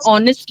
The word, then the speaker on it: honest: That's when you'll use an, like an honest man. Though the word starts with H, we are saying the sound of O, right? Honest.